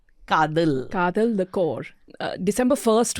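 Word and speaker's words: Kaathal: everybody is talking about, which you're going to pronounce the name because I will get Kadal. Kadal.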